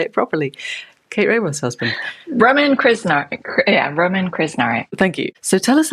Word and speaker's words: Roman Krznaric: name I'm not even going to attempt to pronounce because you know how to say it properly. Kate Raworth's husband. Roman Krznaric.